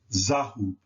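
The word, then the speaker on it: ذهب: The A is always placed in between the first 2 letters, and the U is always placed in between the second 2 letters, giving this word the pronunciation Zahub.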